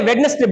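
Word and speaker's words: Wednesday: लेकिन इसमें डी के बाद में क्या आया है? एन आया है। तो डी क्या रह जाएगा? साइलेंट। क्या रह जाएगा? साइलेंट। तो यहां पर ये न आधा न है। वेस्ट। वेडनेसडे। ठीक है ना? इसी में डी साइलेंट रह जाएगा।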